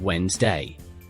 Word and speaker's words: Wednesday: But in English we only pronounce two parts. It sounds like Wednesday.